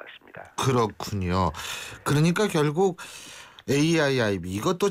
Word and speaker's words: AIIB: 그러니까 결국 AIIB 이것도 잘 읽어야죠. 이거 얼핏 보고 읽으면 A2B라고 읽는 사람도 있어요.